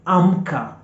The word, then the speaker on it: amka: And an example for a word starting with the letter A in Swahili, A, is amka, amka, amka, A-M-K-A, amka.